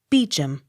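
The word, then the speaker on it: Beauchamp: e a u c h a m p beacham b e a u c l e r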